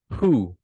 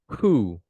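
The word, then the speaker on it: הוא: singular pronoun is who is he notice the pronunciation Hebrew who who okay who who is he and look at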